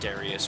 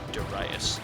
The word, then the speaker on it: Darius: daras and I used to always call it Darius but I believe it is supposed to be pronounced duras and the uh the enemy forces uh wiped